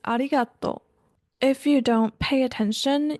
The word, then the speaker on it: ありがとう: extensively in the classrooms Japanese like Chinese has a pitch accent meaning it's not spoken in a completely flat tone for example to say the word thank you in Japanese it's not aligato it's aligato if you don't pay